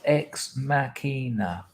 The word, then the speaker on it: ex machina: can like sense that art clothes says it's pronounced ex machina yeah i had a we were going to